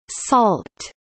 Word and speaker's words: NaCl: sodium chloride pronounced salt is an abbreviation for